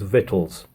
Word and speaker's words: victuals: also going to start pronouncing the word victuals as vittles because I think that might be how it's pronounced and it's easier to